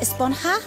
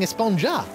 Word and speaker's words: Esponja: been about huh actually it's pronounced espanha with an h sound at the end really but we've all been saying esponja yes i know it's